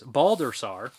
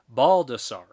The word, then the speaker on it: Baldassar: FYE, for your information, I was cursed with the most flubbed and mangled last name on the planet. It's pronounced Baldassar.